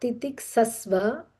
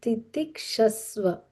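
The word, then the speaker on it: तितिक्षस्व: This is SH as in shirt. This is sa as in S. So it's not titik sasva, it is titik shasva.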